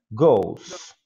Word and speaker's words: goes: Cuidado só com a pronúncia aí do go, para não dar aquela forçada no E, né?